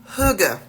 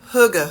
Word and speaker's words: hygge: So the first topic under the umbrella, under the big category of Ambiance, is Huga. Huga, Huga, Huga. And that's spelled Hygge.